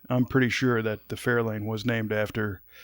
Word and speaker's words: Fair Lane: But I'm pretty sure that the Fairlane was named after Fair Lane. And you'll notice my different inflection. I'm accenting a different syllable as I say Fair Lane.